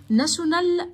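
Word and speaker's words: national: ناشونال، وما ننساش التي اي او بتتنطق صوت حرف الشين.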